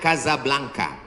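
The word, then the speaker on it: Casablanca: Ibu kotanya tulisannya Casa Belanca. Cara bacanya Kazablanka.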